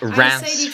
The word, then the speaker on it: Reims: Before coming here, I went back to so yeah, I stayed with his family in Reims, France. I'm pretty sure that's how you're supposed to pronounce it.